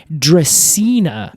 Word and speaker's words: Dracaena: you did do the Greek uh pronunciation of this word hard C the hard C rather than what a lot of people would say was dracina dracina cinnabari okay I think it's fair to say either one is okay and roughly translated Dragon